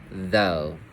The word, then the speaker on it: though: Now we have OUGH, which will make a long O sound for the word though. Yeah, long O.